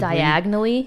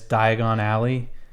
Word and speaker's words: Diagon Alley: instead of just like deciding to pronounce it really stupid diagonally right after Mrs Weasley tells him to make sure he pronounces it right yeah like what they couldn't have done you've known for over a year now that it's Diagon Alley and Mrs Weasley just